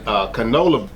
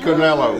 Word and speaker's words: Canelo: I hate butchering this guy's name, but Canelo and Canola, what's his name?